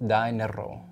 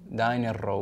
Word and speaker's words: Daenerro: And so it actually is pronounced Daenerro, Daenerro with an O at the end.